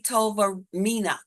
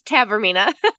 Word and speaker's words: Tavermina: Next up, we have Tovermina. Tovermina. Am I saying it right? You're close. It's Tavermina. Tavermina.